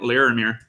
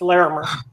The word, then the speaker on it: Larimer: I mispronounced it oh it happens all the time it's larer larer okay Wallace uh I'm